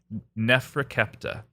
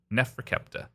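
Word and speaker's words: Neferkaptah: scribe and magician and the name of this uh kid was uh nephra kepa and that is spelled for those keeping score at home this is uh NE F re ke p t a h Nefra kepta uh and he was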